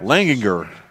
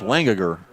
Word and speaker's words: Langanger: Aiden Lingang Langanger Langer's there's two G's in there to Langer that's all the way back Langanger I heard it from down the box Langanger and that's exactly how it's spelled Langer Langer Well he's